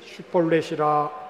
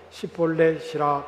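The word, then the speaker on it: 쉽볼렛: 그가 만일 아니라 하면 그에게 이르기를 슈볼렛이라 발음하라 하여 에브라임 사람이 그렇게 바로 말하지 못하고 시볼렛이라 발음하면 길르앗 사람이 곧 그를 잡아서 요단강 나루턱에서 죽였더라.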